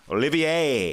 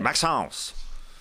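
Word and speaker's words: Olivier-Maxence Prosper: Olivier. That's right. Maxence. Prosper. You got to say it like that. Yep. I can't say it like that. I don't have the natural French tongue.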